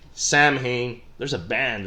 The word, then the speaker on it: Samhain: we know today but sewing which has become like one of our favorite words to say today sow in which is spelled sa ma che i N Samhain there's a band right